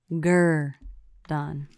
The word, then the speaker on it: Gurdon: south of little rock called Gurdon Arkansas there's a sign as you come into the town that says pronounced ger done just in case anyone was confused right mm-hmm how long